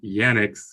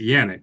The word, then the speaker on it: Yannick: a man I think we are saying Yonex name wrong it's Yannick great Oh Kenny I